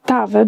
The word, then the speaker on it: estava: I'm not going to spend a lot of time in tava because Doug said it all. It's estava pronounced without the first syllable.